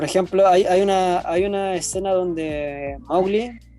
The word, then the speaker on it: Mowgli: Por ejemplo, hay una escena donde Mowgli, que a todo esto se pronuncia Mowgli, no Mowgli, Mowgli.